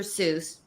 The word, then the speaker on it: Seuss: to quote from Dr Seuss it's actually pronounced soyce but that's a whole